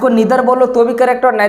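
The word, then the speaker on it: neither: और नाइदर बोलते हैं, और अमेरिकन इंग्लिश में हम लोग इसको ईदर और नीदर बोलते हैं, है ना। तो हम लोग ब्रिटिश इंग्लिश को यूज करते हैं। हालांकि आपका दोनों प्रोनाउंसिएशन करेक्ट है, आप इधर भी बोलो तो भी करेक्ट है, आइदर बोलो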